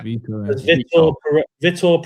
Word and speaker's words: Vítor: It says, is it Vitor? Is that how you pronounce it? Yeah. Vítor Pereira has been sacked by Nottingham Forest.